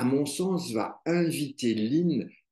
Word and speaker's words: Lyne: la découverte du prénom lin lin qui s'écrit l y n e et non pas l i n e en tout cas c'est